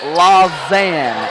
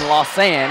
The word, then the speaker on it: Lausanne: uh by the way it's pronounced lausanne and I've been saying lossan because there is an s in there but you pronounce it with a z and speaking of looking